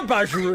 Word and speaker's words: Bajiru: Yeah, Bajiru is how you say it. I don't even know. No, you actually said it right, buds!